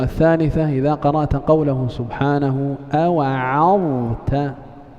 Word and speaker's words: أوعظت: Nah, الكلمة الثالثة إذا قرأت قوله سبحانه أوعظت لابد من تبيين الضاء من التاء، وكذا ترقيق العين.